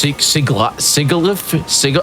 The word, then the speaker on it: Sigilyph: They said it's Sigilyph. I've called it Siglafe. Sigilyph.